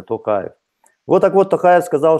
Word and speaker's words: Токаев: очень публичный был человек, называет его Тонхаев. Я, уважаемые друзья, произношу его фамилию правильно, Токаев.